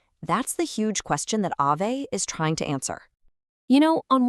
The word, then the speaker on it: Aave: So Aave, and by the way, it's pronounced Aave, it's actually a Finnish word that means ghost, is what we call a decentralized finance, or DeFi, platform.